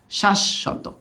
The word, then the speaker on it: শাশ্বত: শাশ্বত, কারণ এই যে বফলার জন্য দিতে হবে শ্বাস, ফার্স্টে কি? শ্বাস। হ্যাঁ, শাশ্বত, শাশ্বত। ওকে, শাশ্বত।